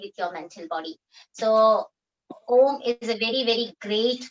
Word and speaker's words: Om: So Om में 3 शब्द है, 3 शब्दों का समावेश है, अ, ओ and म. तो जब हम अ ओ को थोड़ा सा कम समय के लिए उच्चारण करेंगे और म का उच्चारण हमें लंबा करना है.